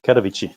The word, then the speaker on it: Katowice: I can't remember how they pronounced it. Is it Katowice? Yeah, Katowice.